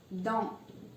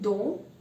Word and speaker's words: dans: Dans. We are not saying don, we are saying dans.